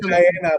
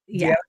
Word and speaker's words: Diana: But I say Diana, but now I know because Deanna called me out too. Deanna. So it's Diana, pronounced Deanna. I love it.